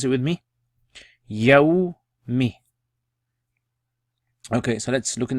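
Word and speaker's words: يوم: So pronounce it with me. Yawmi.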